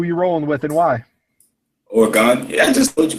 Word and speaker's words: Oregon: Oregon. There's no E after the N. It's not Oregone. No, it's Oregon.